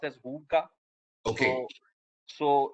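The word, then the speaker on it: hygge: uh you know in danish it's called it's pronounced as hookah okay so it's it's basically uh you know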